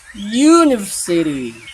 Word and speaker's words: University: mati itu yang diaktikan kata ini kalau diucapkan ber aalan huruf y karena dibacanya Yu kalau Yu kan awalannya suara huruf y kan University University y maka ini